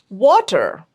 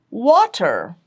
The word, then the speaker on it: water: And water, water, it's we stretch that sound of water. So I'll put that as monophthong long, and stress is on wa.